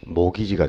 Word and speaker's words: mortgage: 여기서 이제 T까지를 포함해서 읽으면 큰일 납니다. 이 T가 묵음이니까 T를 제외해서 읽으면 모기지가 되는 거죠.